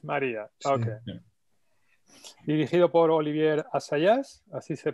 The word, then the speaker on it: Olivier Assayas: Dirigido por Olivier Assayas, así se pronuncia.